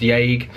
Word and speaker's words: Yage: But because Burroughs didn't put an accent over the E in Yage, it's pronounced Yage.